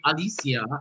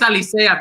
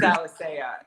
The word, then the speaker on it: Alicea: when I introduced you, I wanted to say Alicea. Yeah, it's how you say it. The way you say it. And everywhere I hear people calling you Alicea, and I was like, no, it's Alicea, bitch. Right, it is Alicea.